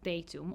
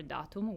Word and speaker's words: datum: In Latin, data is in fact the plural of the singular counterpart, which is datum or datum with the Latin pronunciation, which remains in English as well.